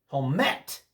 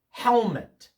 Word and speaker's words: helmet: The first syllable of that word is stressed. Helmet. You don't say it helmet. That would be incorrect. You say helmet.